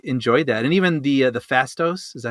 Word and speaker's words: Phastos: And even the Fastos, is that how you say it?